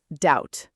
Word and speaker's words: doubt: Doubt. Perfect. And question five, how do you feel about silent letters now compared to the start of today?